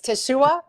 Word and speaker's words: Teshuah: stuff and I know people have hard time pronouncing it or whatever but it's Tashua yeah I you know what I I think